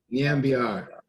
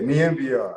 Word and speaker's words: Nyambayar: Nyambayar. Yeah, Nyambayar.